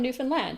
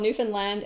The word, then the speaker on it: Newfoundland: It's called Newfoundland and Labrador, and they both get final stress. And I think that helps a little to remember how to say it.